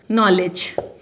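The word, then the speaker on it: knowledge: जैसे जी है, इसके साथ साथ के में यदि के के बाद एन आता है तो के हमेशा साइलेंट हो जाता है। ये एडिशनल टिप मैं आपको बता रही हूँ। फॉर एग्जाम्पल नॉलेज, आप कोई भी वर्ड उठा लीजिए, जहाँ के बाद एन आ जाता है, के की साउंड ही नहीं होती, वर्ड शुरू ही एन से होता है।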